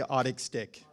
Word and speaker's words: Otic Stick: It's spelled O-T-I-C. I say Otic Stick.